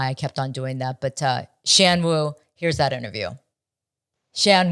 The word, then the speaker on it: Shan: His name is pronounced Shan.